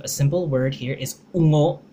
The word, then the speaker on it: ungo: This might be a hard one to pronounce because of the nga letter. There's 3 letters here, u, nga, o, ungo, right? U, nga, and o, ungo, which means monster.